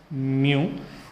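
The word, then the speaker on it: μ: This is nothing but, this is pronounced as mu, and this proportionality constant is called as coefficient of dynamic viscosity.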